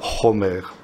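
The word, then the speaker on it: חומר: hébreu, c'est le mot chomer. Ça s'écrit exactement de la même manière, ça se prononce simplement un tout petit peu différemment. Chomer au lieu de chamor.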